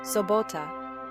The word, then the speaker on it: sobota: Sobota, sobota. So as in so, bo like lot with a B sound, and to like father without the there. Each syllable is distinct.